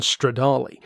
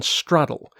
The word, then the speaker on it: Stradale: featuring the Lamborghini Diablo GT one Stradale or as some of our more cultured members of the discord chat would probably call it the Lamborghini Diablo GT 1 straddle because if that's their way is spelled that must be the way you say it if you know you